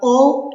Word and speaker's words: hour: Você não escuta o som do H, e sim de uma vogal, ok?